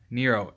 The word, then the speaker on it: Nero: Nero. N-E-R-O. They spell it like hero, but with an N.